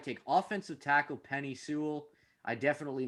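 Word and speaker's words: Penei Sewell: I'm gonna mispronounce this name somehow, but the Cincinnati Bengals at number 5 take offensive tackle Penny Sewell. I definitely mispronounced that.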